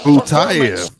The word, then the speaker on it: Butayev: Ramzan Butayev with a brilliant Butayev.